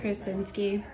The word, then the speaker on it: Krasinski: Krasinski.